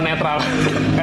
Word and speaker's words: NTRL: Sebelum gua mulai, apa satu hal yang lu pikirkan tentang Eno netral? Sorry, NTRL sekarang. Oh iya, ya dibacanya gimana? Netral, NTRL. Bukan KNTL.